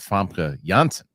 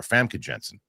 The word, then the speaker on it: Famke Janssen: Next week, I got an interview coming out on Wednesday with Famke Janssen. People, it's funny cuz I didn't up until the interview, I was calling her Famke Janssen or Famke Janssen, which is wrong.